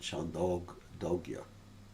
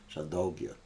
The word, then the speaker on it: Chandogya: Some people pronounce it Chandogya, and that's probably more correct. Chandogya, dog, like almost like dog.